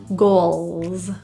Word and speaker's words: goals: hair total hair goals the difficulty here is L so when you get to that UL sound put your tongue tip up to the roof little full contact with your palate goals goat it's an acronym